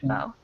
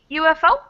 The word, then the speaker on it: UFO: say a university because even though it starts with a vowel, the way we pronounce it is kind of like a Y, like ya, instead of the actual vowel sound of oo. Like umbrella starts with but university starts with that ya sound.